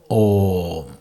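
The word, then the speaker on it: ॐ: A plus U equals O plus Ma, Om.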